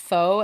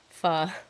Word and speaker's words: pho: Especially, I used to think it was pronounced pho, and it's not. It's pronounced pho.